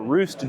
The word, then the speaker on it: Rust: We've got CloudFest coming up in Rust, Germany, or Roost, Germany, as I was corrected last year on that pronunciation.